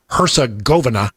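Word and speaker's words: Herzegovina: the team from Bosnia Hersgoa uh or Hersa Govena I believe is the way you say it.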